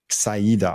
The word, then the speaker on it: Saidah: Saidah. Oh yeah. The E. Yeah. It's not English. It's like the E has to be spoken also.